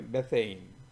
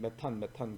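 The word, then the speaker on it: methane: 그다음에 그래서 이산화탄소, 그다음에 메테인, 영어 발음은 메테인이고 우리는 그냥 메탄 그러죠.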